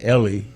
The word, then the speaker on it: Eli: Well, but you know what I always say is it's pronounced Ellie, but it's spelled Eli.